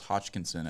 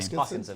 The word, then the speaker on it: Hoskinson: So I was juxtaposing Elon Musk to Charles Hodgkinson at the time. I could not pronounce his name. Hoskinson.